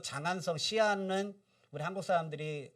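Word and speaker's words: 西安: 오늘날 중국이 어디냐면 서안 한자로 쓰면 서안 중국식 발음하면 시안 시안입니다 시안 중국의 시간표준시 우리나라의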